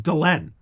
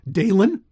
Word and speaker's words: Delenn: of them has ever mispronounced the name Delenn. They've never said, like I've been to France, they never said Dalen.